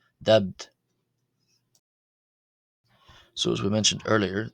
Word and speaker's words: ⲧⲉⲃⲧ: this word meaning fish the first t is pronounced as a d so d where the second t is pronounced as a t uh as it's part of a final consonant cluster giving us the pronunciation of the word fish as dubbed dubbed So as we mentioned